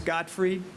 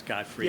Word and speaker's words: Gottfried: It's Gottfried. Just pronunciation, I guess, Godfrey. Yes. She said Godfried. How do so- you see the Oh, fried sorry. at the end? It's Gottfried. Sorry.